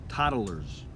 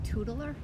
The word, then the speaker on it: toddler: Toodler? Toddler. Toddler. Toddler. Toddler. We're saying the same thing. No, we're not. You're saying toddler. You're adding a syllable.